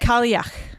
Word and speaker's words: Kalach: Yes. So, what is it? Kalach. Kalach? Kalach. Kalach. Like yuck.